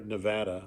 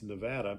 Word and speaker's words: Nevada: Nevada silverfields the or Nevada I've learned that it's Nevada okay um pronounced that way the Nevada silverfields of